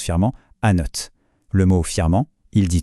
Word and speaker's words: Annot: On dirait donc an simple. Et pourtant, ce serait une erreur. La bonne réponse, la voilà. Anote ce T final qu'on a l'habitude de laisser muet dans plein de mots en français. Et bien ici, il est absolument crucial.